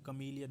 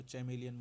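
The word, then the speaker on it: chameleon: ने नहीं सुना होगा यह कलियन होता है कुछ लोग इसको चमेलियन बोलते हैं क मिलियन होता है और जो सेकंड वर्ड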